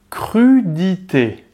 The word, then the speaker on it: crudité: Le mot crudité. Es que ahora está añadida la R en medio. Está la C y la R. Cru, cru. Cru, Bien. Crudité. crudité. Bien. Necesitáis aire para poder pronunciar esta palabra.